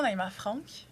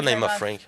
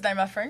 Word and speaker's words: Naïma Frank: Comment tu veux qu'on le prononce, Naïma Franck? Moi, j'aime ça, Naïma Franck. Mais genre, I don't care. C'est pas Naïma Frank. Ben, le monde dit Naïma Frank, je suis comme, OK.